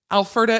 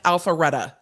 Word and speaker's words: Alpharetta: and go from there but alfreda is pronounced alpharetta okay well then i've